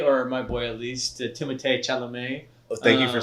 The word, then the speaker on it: Timothée Chalamet: So our next topic is our boy, or my boy at least, Timothée Chalamet.